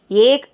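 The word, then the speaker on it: एक: First என்ன பார்க்குறோம் அப்படின்னாக்கா ஏக் அப்படின்னா நம்பர் 1. நம்பர் 1 எப்படின்னு ப்ரொனவுன்ஸ் பண்ணுவோம்? ஏ க போட்டு ஏக் அப்படின்னு.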